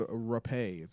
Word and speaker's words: rapé: It's actually called rapé, which is spelled rape, Oh, which is kind of crazy.